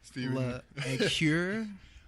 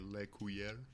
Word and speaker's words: Lecure: We got Steven Lecure. Yeah, that's the usual pronunciation. I think the fancy pronunciation is like Lecure. Lecure? Yeah. Okay, But that's gotta, how you roll the R.